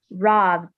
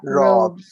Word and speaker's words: robbed: You have to widen your mouth, like robbed, not robed. Because there's also a word or a verb. Sorry, my dog. There's also a verb that is robed, and that's a different one. So robed, robbed are different.